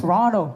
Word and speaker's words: Toronto: Toronto. That's how you pronounce it. Toronto, Boston. Because it's not barbecue, this is Toronto.